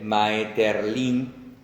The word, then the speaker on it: Maeterlinck: En el escritor y simbolista franco-belga Maurice, vamos a leerlo como se escribe, Maeterlinck, CK al final, autor de La vida